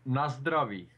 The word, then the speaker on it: na zdraví: In Czech, na zdraví. So it's kind of not like Russian. Nastrovia. Yeah, like in Russian, it's na zdraví, and in Czech, it's na zdraví.